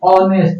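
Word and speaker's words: honest: हैं लेटर है हमारा एच से स्टार्ट हो रहा है मतलब कॉन्सोनेंट है लेकिन इसका उच्चारण जो है स भवेल साउंड से आ रहा है तो ये क्या हो जाएगा तो एंड का प्रयोग होगा जैसे हम लोग करेंगे ऑनेस्ट ओ से उच्चारण हो रहा है इसका है ना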